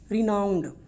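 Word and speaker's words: renowned: रिनाउंड कैसी इसकी pronunciation है, रिनाउंड, ये इसकी प्रोनाउंसिएशन है।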